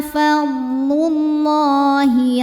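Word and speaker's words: فضل الله: Lam pada lafaz Allah dibunyikan secara tafkhim sebab huruf sebelumnya berbaris di atas yaitu dhammah. Maka cara bacanya ditebalkan. Fadlullah.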